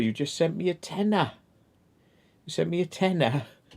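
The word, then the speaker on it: Tena: I'm sure there's a thing called a tenner pants. Yeah, it's for incontinence. Tenner, but it's spelled with T-E-N-A, not T-E-N-N-A.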